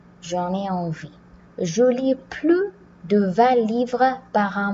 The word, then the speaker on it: plus: Donc, avec la locution sans plus, on ne prononce pas le S.